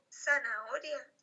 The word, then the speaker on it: zanahoria: Una zanahoria. Tiene cuatro sílabas. La primera es sa, la segunda es na, la tercera es o, ya que la h no tiene sonido.